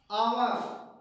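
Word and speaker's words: hour: जैसे आवर, एच ओ यू आर, आवर क्या हो गया,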